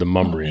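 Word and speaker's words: Demonbreun: It's called Demumbrium. Amazing. And it's spelled Demon Brewing.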